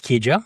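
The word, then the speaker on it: Keijo: Wiki, 24, and her 11year-old son, Kijjo, I think it's Kjo. Yep, that's how you pronounce it, are still being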